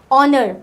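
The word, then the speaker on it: honour: अभी ऑनर को हम लोग कैसे प्रोनाउंस करते हैं, एच is silent over here, while pronouncing the ऑनर वी से ऑनर, मीन्स हम लोग ओ से बोलते हैं, राइट।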